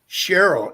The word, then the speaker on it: Cheryl: I want to go I think it's pronounced Cheryl in Winter Garden did I pronounce your name right or wrong yes you got it right thank you oh good